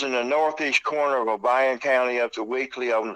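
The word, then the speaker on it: Obion: And it's O-B-I-O-N is O'Brien, because you live in the South. It's pronounced that way.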